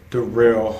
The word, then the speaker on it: Daryl: or my name is dorell but it's spelled daryl uh anyway hey daryl